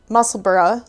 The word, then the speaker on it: Musselburgh: And yeah, so it's Musselburgh like Edinburgh, if you're wondering how to pronounce it.